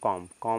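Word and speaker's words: calm: यानी यहां पे देखिए एल के बाद एम है तो य एल साइलेंट हो जाएगा तो यानी सी ए एम को पढ़ेंगे कम क्या पढ़ेंगे बच्चों कॉम कॉम मींस होता है शांत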